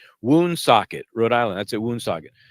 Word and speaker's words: Woonsocket: Is it called Woonsocket? That's definitely not the way it's pronounced.